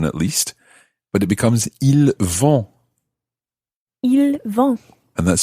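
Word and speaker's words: ils: least but it becomes il and that's spelled v-o-n-t and just to remind you that l there have a silent s on the end i l s for il and that's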